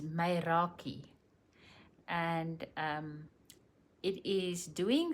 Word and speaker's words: Meraki: So this word and I know this is the pronunciation because it gives it to you on the screen is maki and um it is doing something with total love and pure soul.